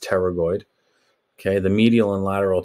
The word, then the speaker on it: pterygoid: lateral pterygoid muscles okay it's a silent p there so it's just pterygoid okay the medial and